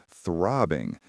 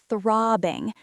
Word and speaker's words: throbbing: Throbbing. That is a difficult word to pronounce. Can you say that again slowly? Of course. Throbbing. The th sound is soft.